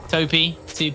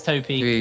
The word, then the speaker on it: Topi: Topi, it's Topi. It's not a second. You know, I did a bit of an oopsie and I didn't check the pronunciation of that. I just saw a load of 2P memes about, wow, you just got beaten by 2 pence coin. That's crazy. So I've been edging towards 2P.